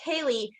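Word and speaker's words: ceilidh: And I just it reminded us of Kaylee. So that is pronounced Kaylee, and it's a social event where there's Scottish or Irish folk music, singing, traditional dancing, and storytelling.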